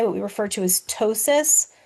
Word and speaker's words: ptosis: we refer to as ptosis. So the P is silent.